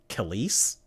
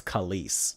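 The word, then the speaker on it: Kelis: How do you pronounce it? Khales. Khales. It's Khales. Oh, like Khesi.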